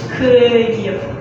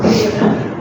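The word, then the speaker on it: Київ: So the capital of Ukraine is Kyiv. Yeah, that's one. Kyiv.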